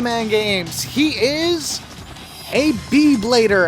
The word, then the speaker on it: B-Blader: He is a B-Blader. Actually, they would pronounce it a B-E-E Blader, but here is just the regular letter B.